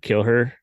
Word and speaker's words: KillHer: It's spelled like KillHer, but KillHer.